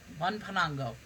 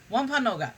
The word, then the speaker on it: Wampanoag: one one pango was one panango i'm pronouncing that wrong wompan no og wampanoga that's it the chief of the